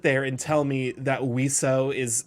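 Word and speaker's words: oiseaux: and tell me that wio is spelled o UI SE e Au ux and is pronounced wio it's two syllables versus like 20 letters exactly flip a coin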